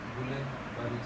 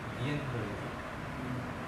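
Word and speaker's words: Guillain-Barré: B.O.Y.s এর elaboration হচ্ছে আমরা ইউজুয়ালি বলি গুলেন-বারি সিনড্রোম, গুলেন-বারি সিনড্রোম। আর অ্যাকচুয়াল প্রোনাউন্সিয়েশনটা এরকম গিয়েন-বারি সিনড্রোম।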